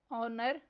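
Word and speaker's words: honour: Next word है ऑनर। इसमें silent letter H पर सर्कल करना है।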